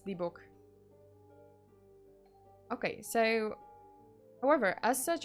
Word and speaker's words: dybbuk: I've heard it pronounced Dybbuk. Book. I guess Dybbuk.